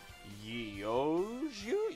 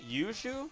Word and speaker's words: Yeouiju: Capturing a steel orb called Yoshu? Yushu? Yushu. I assume that's how you say it. There are, it is Yeouiju.